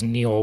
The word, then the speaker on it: Niall: also Niall Ferguson or Neil Ferguson I guess it's spelled like Nile but it's he says Neil whenever I hear him